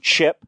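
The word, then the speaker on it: Ch'p: I got to say, Stuart, at least they didn't introduce the Green Lantern chip, which is spelled ch apostrophe p, which is literally a some kind of Green Lantern that's a squirrel or a chipmunk.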